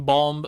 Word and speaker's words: bomb: The B in bomb is silent. The second B is bomb. Sounds like a bomb.